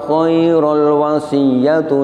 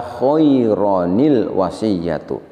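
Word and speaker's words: خَيْرًا ٱلْوَصِيَّةُ: Kita baca khairul dengan cara diidghamkan. Ini tidak pas. Yang betul adalah kita bacanya adalah dengan mengganti tanwinnya diganti dengan nun iwad atau ada yang menyebut dengan nun silah. Nun silah ini selamanya berharokat kasroh sehingga kita baca khaironil wasiyatu.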